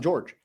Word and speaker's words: Jorge: Everybody calls him George. It's spelled Jorge, which is Jorge. But he grew up in Miami, and everybody calls him George.